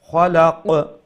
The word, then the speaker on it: خلق: Khalaq. That qaf at the end is going to be pronounced qalqala.